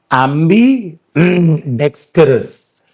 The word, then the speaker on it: ambidextrous: एम्बी डेक्स्टरस, एम्बी डेक्स्ट्रस, ये ट्रा है, ये ट्रा है.